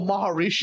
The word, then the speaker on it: Maharishi: Oh, Maharishi, Maharishi. the cult. Maharishi. Yeah. Yeah. Okay. You were there. Yeah, I went to Maharishi School, Age of Enlightenment. Maharishi Yogi was the name of the school, and